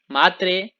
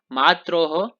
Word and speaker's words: मातरः: ये नहीं कि हाँ माता मात्रौ, मात्रौ बोलेंगे तो त्रौ नहीं है वहां पे, मातरौ मातरः, है ना, मात्रः नहीं बोलेंगे वहां पे बहुवचन में, मातरः।